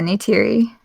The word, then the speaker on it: Neytiri: Yeah, Neytiri.